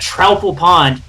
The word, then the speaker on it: Troupple Pond: We're going to go on to their second game here at Troupple Pond. Did I pronounce that right this time?